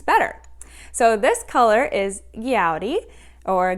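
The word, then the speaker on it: Gaudí: yarn, and I have recently learned how to pronounce things better. So this color is Gaudi, or Gaudi.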